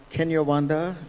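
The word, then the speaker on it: Kinyarwanda: exchanging notes and that is that uh it's pronounced Kenya Wanda the language yes in Rwanda is is not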